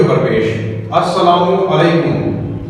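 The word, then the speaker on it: السلام: सलाम का सही तरीका इसमें लाम क्योंकि साइलेंट है इसलिए ऊपर एराब आएगा अस्सलाम अब ये है शद आ जाएगा दो बार सीन पड़ा जाएगा अ सलाम लाम नहीं पढ जाएगा लाम साइलेंट है इसके अंदर शमसी हर्फ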